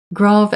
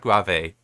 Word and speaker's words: grave: that's something very different grav accent okay so it's grav not grave I have heard some